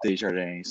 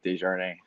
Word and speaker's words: Desjardins: The English way would be Desjardins. So it's pretty simple, I guess, but a lot of people's got a hard time to pronounce it right because there's a couple ways you can do it, but it's the right way, Desjardins.